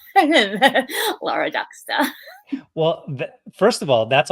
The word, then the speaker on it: Duksta: the C and star without the r Laura ducka well first of all that's awesome I've been calling you Laura duksta for I think forever so thank you for